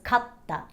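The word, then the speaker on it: かった: the small suit creates another set of examples would be the word kata versus katta kata means shoulder and katta means you won in the past tense two words that have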